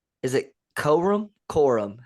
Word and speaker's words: Corum: Corum.